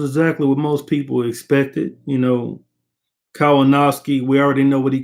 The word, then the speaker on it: Kownacki: It's Adam Kownacki, not Kownacki. But anyway, salute LDBC 100 for sure. Um, I mean, the fight basically it was exactly what most people expected. Kownacki, we already know what he comes to do.